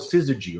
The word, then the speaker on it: Syzygy: But before that, it was called Syzygy, right? Am I pronouncing it right?